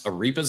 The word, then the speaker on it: arepas: I'm going to try to pronounce arepas again.